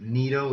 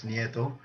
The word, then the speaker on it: Nieto: It's funny, a lot of people pronounce it Nito. It's not Nito, it's Nieto.